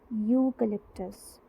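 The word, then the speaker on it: eucalyptus: इसी तरह यूकलिप्टस एक प्लांट होता है, स्टार्टिंग में हम इसकी स्पेलिंग में ई लिखते हैं बट आवाज़ किसकी आ रही है, वाई की, यूकलिप्टस। तो इसमें स्टार्टिंग जो साउंड है वो है कॉन्सोनेंट साउंड बट लिखा क्या हुआ है, वॉवल।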